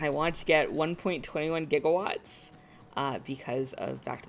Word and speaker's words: gigawatts: want to get 1.21 gigawatts uh because of back to the future which as we all know they pronounced it jiggle watts and that just delights